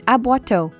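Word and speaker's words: aboiteau: as mentioned by the university Professor is an abuato it's spelled a b o i t e a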